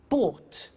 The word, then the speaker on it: bought: Buy, bought. You notice that O-U-G-H-T is pronounced ought.